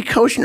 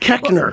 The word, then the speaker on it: Koechner: You'd think that they would remember how to pronounce Koechner. Oh, yeah. Koechner. It should be Koechner, of course. You look at it. Yeah, but it's not. Koechner.